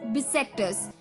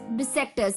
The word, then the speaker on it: bissextus: the fourth word for the evening was बिसेक्टस, BISSEXTUS, बिसेक्टस, यानी कि दोस्तों बताया था मैंने द 29th